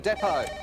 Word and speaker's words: depot: Which consonant is silent in the word depot? Kate? T.